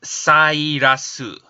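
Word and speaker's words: サイラス: Because if you see the Japanese name, it's pronounced Sairasu, right?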